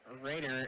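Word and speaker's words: Roeder: As that name is not said how it is spelled. It's R-O-E-D-E-R, but it's said like Raiders, like the Las Vegas Raiders.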